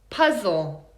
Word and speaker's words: puzzle: Another one, puzzle. Puzzle. It's the second one. Here's a hint. Anytime you see L-E at the end of a word, it's usually a reduced schwa sound.